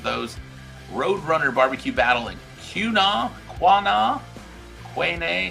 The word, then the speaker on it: Quanah: Roadrunner barbecue battle in Quanah, Quanah? Quanah? How do you say that, Grant? Quanah? That's a state championship. How do you say that, Grant? Quanah? Quanah, Quanah, thank you.